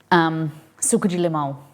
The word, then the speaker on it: suco de limão: Suco de limão, it's pronounced.